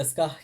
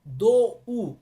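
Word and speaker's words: どう: দো শিমাস্কা, দো শিমাস্কা। এই জায়গায় দো উ, দো শিমাস্কা এটা না পড়ে আপনি কি বলবেন? দো শিমাস্কা। দো, কারণ দো যখন আমরা বলতেছি এটা শেষে কিন্তু ও উচ্চারণ হইতেছে।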